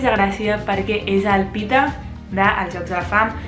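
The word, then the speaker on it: Peeta: El segon personatge sí que té una miqueta més de gràcia perquè és el Pita dels Jocs de la Fam i jo al meu cap li deia Peta.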